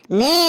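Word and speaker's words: know: হ্যাঁ স্যার একদম ঠিক স্যার এটা কোন ই হবে স্যার ওটা লেখা আছে কে এন ও ডব নো এখানে কে এর উচ্চারণটা মুখে হবে না একদম ঠিক বলেছিস হাবলু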